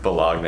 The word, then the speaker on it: Bologna: Say it right. Bologna. Bologna is the right way. That's the right way to say it.